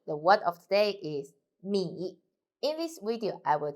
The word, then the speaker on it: 米: The word of today is 米. In this video, I will teach you how to pronounce it, how to write it, and how to use it. First, let's read together. 我们一起读米摸一 third tongue 米 Okay, let's write it.